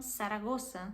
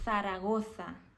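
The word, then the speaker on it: Zaragoza: os espanhóis que existem na maioria dos espanhóis a letra z na maioria de vezes é pronunciada como uma S por exemplo uma pessoa que é de algum país da América do Sul enfim de algum país que fala espanhol elas falam iam saragossa que é uma cidade que tem aqui na Espanha já uma pessoa que é daqui da Espanha ela falaria saragoça isso pode ser um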